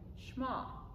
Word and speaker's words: Shema: it's s h e m a and it's pronounced like shma and it's kind of like the creed for